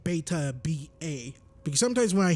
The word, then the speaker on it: Baytuh: Hopefully I'm not saying my name wrong when I'm saying that, right? Well, I'm saying Baytuh, B-A, because sometimes when I hear myself, when I say A, it sounds like I'm saying E.